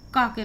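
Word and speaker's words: cock: सी के जब भी इकट्ठे आते हैं तो इसमें सी साइलेंट हो जाता है, और सी के बाद जब भी ओ आता है तो सी का जो उच्चारण है वो का के रूप में होता है। तो यहाँ पे हम पढ़ेंगे कॉक।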